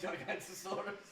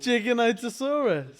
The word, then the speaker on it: Giganotosaurus: By saying Gigantosaurus.